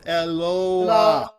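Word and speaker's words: אלוה: How's that next word pronounced? Somebody brave. Unmute yourself. Nobody remembers? Okay. The word is Eloah.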